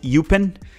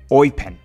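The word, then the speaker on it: Eupen: red card for teaching me how to properly pronounce the name of the club that Gabrielle sonina currently plays I've been calling it upen but he taught me and here it goes It's called oen almost as if you're like a pirate saying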